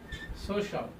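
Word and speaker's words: social: বলে থাকি সোশিয়াল অর্থাৎ সোশিয়াল সোশিয়াল এইযে শিয়াল উচ্চারণ করে থাকি সোশিয়াল সোশিয়াল নর সোশিয়াল আমাদের কি হবে? সোশাল সোশাল সোশল সোশল সোশল সোশল সোশল সোশল সোশল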